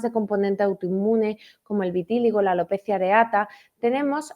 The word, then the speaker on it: vitíligo: visto entre la psoriasis el vitilio cómo lo pronuncias vitíligo vitíligo siempre me hago con esa palabra has visto